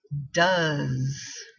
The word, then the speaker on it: does: do in this case e s which is pronounced does does so we have does your son walk